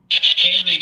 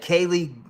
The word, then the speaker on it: Haley: This was at the beginning of the case when I wasn't pronouncing her name right? But listen, I said, Kaylee Lolcow.